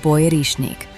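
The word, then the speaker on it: боярышник: This fruit is called boyarishnik, pronounced boyarishnik.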